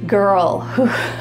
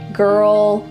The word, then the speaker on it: girl: Notice that my mouth isn't really moving here. It's all inside my mouth and in my throat.